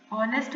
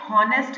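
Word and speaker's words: honest: ऑनेस्ट बोलते हैं, हॉनेस्ट नहीं बोलते हैं.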